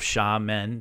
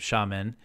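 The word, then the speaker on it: Xiamen: islands and you could see the skyline of sha men the the Chinese City that's spelled x i a m n I believe sham men you could see the the skyline there that's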